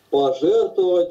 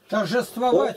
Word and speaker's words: торжествовать: Но благодарение Богу, который всегда дает нам пожертвовать во Христе и благоухание познания о себе распространяет нами во всяком месте. толкование. Торжествовать, да? Правильно прочитай, торжествовать.